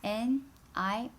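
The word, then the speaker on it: 你: The first one is U in Chinese, which is N-I with a third tone mark. How do you pronounce that? Think about. It is ni, right?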